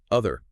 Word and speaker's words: other: For other, the tongue position is exactly the same, but you vibrate your vocal cords.